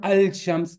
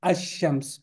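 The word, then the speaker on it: الشمس: It's not al-shams, it's ash-shams.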